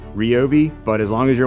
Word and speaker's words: Ryobi: Okay, so it's not actually pronounced Ryobi. It's actually pronounced Robi, but as long as you're one of our customers, you can say it whichever way you want.